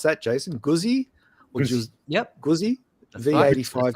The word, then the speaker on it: Guzzi: And the daily ride is the, how do you pronounce that, Jason? Guzzi?